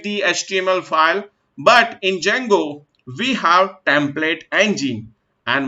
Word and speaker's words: Django: is a Django right so make sure whenever you have pronounce the Django makes your D will be child D will be silent few people call as